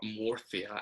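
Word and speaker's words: Murcia: where i lived in mercia or morphia as they pronounce it mm-hmm it's like a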